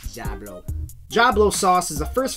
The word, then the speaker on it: Djablo: pronounced and that's how I know how to pronounce it it says jablo jablo sauce is The First Filipino hot sauce